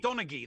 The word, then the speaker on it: Donaghy: i say his name but yes donaghy donaghy donaghy that's it yeah donaghy yeah freaking love 30